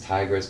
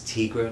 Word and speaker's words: Tigra: part of the and it's tigra not tigress it's just tigra or tight tigra um